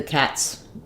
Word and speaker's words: cat: the cat's out uh no I still keep my a vowel in cat um because it's a Content word so even though it's